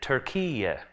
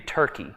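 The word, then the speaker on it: Türkiye: They would rather us say Turkiye, because they don't want it to be Turkey.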